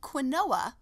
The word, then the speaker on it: quinoa: you ask it is a whole grain it's spelled like like quinoa but it sounds like quinoa quinoa my husband